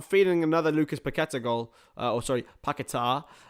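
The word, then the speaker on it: Paquetá: Paqueta, which is how they can correctly pronouncing it now.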